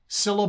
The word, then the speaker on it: Cilla: in alfie bert bacharach cilla black c-i-l-l-a syllable and you're going to